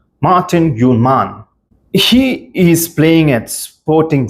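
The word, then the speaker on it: Morten Hjulmand: It's Morten Gjulmand. That's how you say his name. Very Danish name. Morten Gjulmand.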